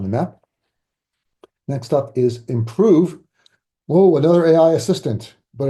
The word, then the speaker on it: Impruve: Next up is Improve. Whoa, another AI assistant, but it's spelled improve with a U, IMPRUVE, just to make it more difficult to find it.